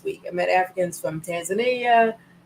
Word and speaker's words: Tanzania: I met Africans from Tanzania. They pronounce it Tanzania. We say Tanzania here. They say Tanzania. And from Kenya and from